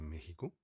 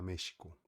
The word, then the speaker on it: México: a gente não fala México nem México. Por exemplo, os americanos falariam México, mas em para nós que falamos espanhol, a gente costuma falar México, como se fosse J, México.